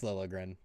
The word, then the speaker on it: Liljegren: How do you say his name now? Timothy Liljegren. Liljegren. There we go. It's Liljegren. It will always be Liljegren.